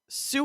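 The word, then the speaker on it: Sioux: was once home to the sue people spelled s IO u x more specifically the Eastern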